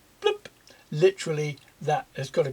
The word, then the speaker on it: PLMP: But over the top we have this made up word which is spelt PLMP. It's pronounced bloop.